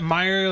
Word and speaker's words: Meijer: Is that Meijer, like was me. M-E-I-J-E-R? Yeah, there you Okay, go. I always wondered how to pronounce that.